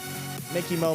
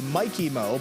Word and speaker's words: Mikey Mo: For those of you that don't know, I believe Mickey Mo made his debut, it had to be in the 2021 or 2022 tournament. His name is actually Mikey Mo, but we kept pronouncing it incorrectly.